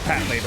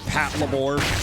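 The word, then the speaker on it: Patlabor: Okay, so it is Pat Labor. Okay, then I don't know why some people I know pronounce it Pat Labbor.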